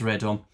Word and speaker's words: radome: Uh, Ray Dorms. I I will have a look at the pronunciation just to see what it is. If anyone cares. You're on mute, Ra. Radon. Yeah, it's Radome.